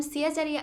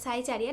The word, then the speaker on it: Siacharya: প্রথমেই বলি, আমার চ্যানেলের নাম সিয়াচারিয়া আর্টস, নট সাইচারিয়া, নট সাদার। তো তোমাদের মধ্যে অনেকেই আছে যারা আমার চ্যানেলের প্রোনাউন্সিয়েশনটা ভুল করে।